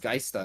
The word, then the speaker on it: Geister: The last one is pronounced Geister, no?